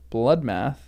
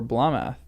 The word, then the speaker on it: Blotmath: Thrimage was often written Thrimich, archaically Thrimilch, and Blotmath was pronounced Bloodmath or Blamath.